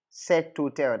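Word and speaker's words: cet hôtel: you need to consider is it starting with a silent h or aspirated H Hotel Comm set to tell that's what we use we say set to tell that's option b option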